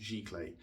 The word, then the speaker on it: giclée: It's pronounced giclée.